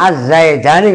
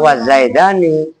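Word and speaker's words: الزيدان: Az-zaidani gak usah wazaidani. Wahada dan bermula ini lafaz az-zaidani, wawunya gak usah dibaca.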